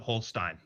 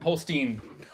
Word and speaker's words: Holstein: would automatically pronounce it Holstein. Oh, so close. But opposite. Holstein. Someone asked Holstein like the cow.